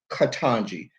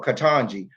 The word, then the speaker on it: Ketanji: But Katanji, three syllables, three syllables, y'all got a problem with that.